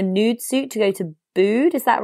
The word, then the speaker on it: Bude: And then when I saw it, I thought nude rhymes with Bude.